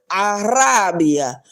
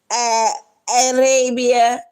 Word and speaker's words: Rabia: And this country, they put the A in it. A Arabia. Arabia. That's not the way you say my name. It's a Rabia.